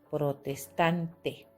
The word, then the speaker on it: protestante: Por ejemplo, la palabra protestante, ¿no? Protestante, última, penúltima. Acá lleva el mayor golpe de voz.